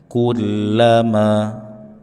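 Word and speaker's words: كلما: Kula lam bertasydid. Berikan penekanan dan posisi rahangnya dibuka. Kulla kulla kulla. Kulama.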